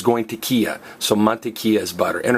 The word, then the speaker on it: mantequilla: it's going tea so monia is butter and remember that Double L is pronounced as a y so it's not mon K it's monia like Mayas